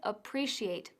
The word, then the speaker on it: appreciate: con la pronunciación de Appreciate ya que se pronuncia Appreciate con el énfasis en la segunda sílaba y sin atisbo de la c castellana veamos estos tres ejemplos